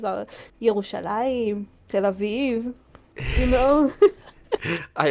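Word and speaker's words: ירושלים: Like the actual names are Yerushalayim, Tel Aviv.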